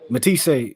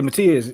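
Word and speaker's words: Matías: Matty, how you say his name? Matisse. Not Matisse. No, not the new nigga. What's the dude just fought? Matias. Yeah, Matias.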